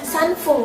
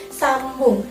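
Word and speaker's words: 三分: Harusnya sanfung kan, tapi karena pengecualian dia jadi sambung. Ditulisnya sanbun tapi dibacanya sambung.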